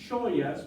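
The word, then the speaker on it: xoias: In Galician and Gallego, we would say, look at that, as joyas, because the X is pronounced sh, just like the SH in English, in she, he or she, right?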